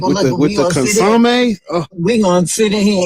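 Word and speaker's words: consommé: Like, with the consomme, we gonna sit in here and eat these motherfuckers in the car right before we drive home.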